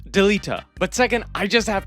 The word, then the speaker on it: Delita: made it very clear how to pronounce these names. It is Delita.